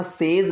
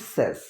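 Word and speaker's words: says: सो the postmortem report सेज, इसकी pronunciation पर ध्यान रखना, सेज नहीं होता है, बहुत से लोग सेज बोलते हैं, सेज नहीं है, दिस इज सेज।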